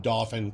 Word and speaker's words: Dauphin: Pretty sure it's pronounced Dauphin. At least that's how we pronounce it here in Pennsylvania. Harrisburg is in Dauphin County.